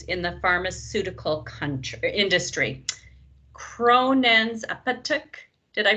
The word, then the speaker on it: Apotek: Kronen's Apotek, did I pronounce that right? Apotek, yeah.